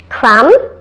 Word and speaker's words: crumb: and comb in addition the largest number of these silent B words have a short u sound now here they are crumb dumb numb Plum succumb